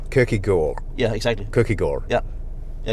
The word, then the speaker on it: Kierkegaard: It's a like a hidden D. You don't pronounce the D. Okay, so it's really just an R. Kierkegaard.